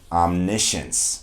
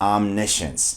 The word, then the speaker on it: omniscience: approach because, you know, we know the word science. We also know words like conscience, where we also have a syllable that looks like science.